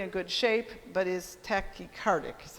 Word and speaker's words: tachycardic: heart is generally in good shape but is tachycardic is how you say it yeah the tachycardia